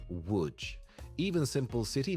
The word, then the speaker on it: Łódź: On paper, it looks like Lodz. In reality, it's pronounced more like Łódź.